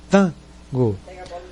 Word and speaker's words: Tango: E aí a pronúncia mais forte é o T-A, Tango.